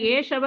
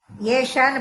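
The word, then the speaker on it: एष: ஏஷகமலோதரே கை ஏஷவ கை ஏவன்னு இருக்கு புக்குல ஏஷன்னு படிக்கணும் அந்த ஏ யாங்கற உச்சரிப்பு வரக்கூடாது அல வர ஏ அந்த உச்சரிப்பு வரணும் கயேஷ க ஏஷ கயேஷ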